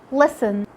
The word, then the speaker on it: listen: Letter T is silent when it comes after an S in words like castle, whistle, listen, fasten. And with the last letter we have today, letter W.